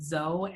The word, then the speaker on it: Zoe: So that's why I pronounce it Zoe and not Zoe.